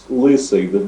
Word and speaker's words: Lysyj: Not that it matters a great deal, but it's Lysyj. The second is not an I either.